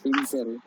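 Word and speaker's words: Insel: এস এ এল ওকে ঠিক আছে ইনজেল আচ্ছা ইনজেল মানে ইনজেল মানে জানেন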